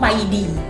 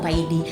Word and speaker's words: PAYDI: Nah, yang ketiga adalah harus mencantumkan mengisi namanya form PAID, ya. Tulisannya PAYDID, tapi orang-orang kadang membacanya PAID, termasuk saya ya.